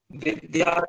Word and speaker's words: विद्यारंभं: तो क्या प्रोनाउंसिएशन हो जाएगा, विद्यारंगं विद्यारंभ। विद्यारंभं। हाँ, विद्यारंभं करिष्यामि सिद्धिर भवतु मे सदा।